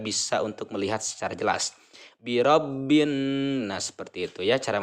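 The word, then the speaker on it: بِرَبِّ النَّاسِ: ya mengenai guna-guna itu cara membacanya harus mendengung dan menahan dengungan itu selama 2/3 harokat biro bhin-bhin Nah ada menahan Nun ya mendengung jadi dengan ini adalah menyeretnya suara ya ke hidung birabbinnas birabbinnas 2/3 harokat menahan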